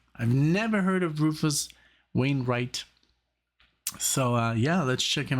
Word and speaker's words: Rufus Wainwright: I mean, of course I could, but in Germany, you pronounce it as a, like, V. That's a V, like Wiener, Wein. And here's like a Wayne.